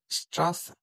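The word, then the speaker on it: Straße: বি বা এস সেটের জায়গায় ডাবল এস এর উচ্চারণ হইতেছে স্ট্রাস স্ট্রাড স্ট্রেট বা রাস্তা তো বন্ধুরা আজ আমরা শিখলাম Germany alphabet and pronoun section.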